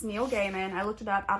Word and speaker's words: Neil Gaiman: so sorry okay I looked up how to pronounce his name it's Neil Gaiman I looked it up out of respect cuz